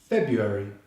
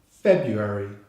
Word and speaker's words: February: Next we skip the letter R and go straight to the U vowel sound, U as in you. So we have Feb, you. The final syllable is the same as in January. We have the Schwa vowel sound and the RY consonant cluster, R. So we have Feb, you, eri. Feb, you, eri. February, February, with the stress on the first syllable.